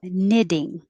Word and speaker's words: knitting: sound like d's so knitting knitting the k in combination is always just an in like knife and no